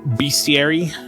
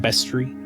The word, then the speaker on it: bestiary: You've always pronounced it bestiary? Yeah, I've heard people call it bestiary. Best as in best. Best. Bestiary.